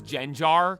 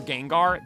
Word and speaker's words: Gengar: Like, I'll give it to you when Wolfie says Genjar for Gengar.